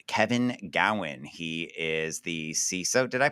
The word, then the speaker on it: CISO: am here with Kevin Gowan he is the ceso did I pronounce that right you did all right he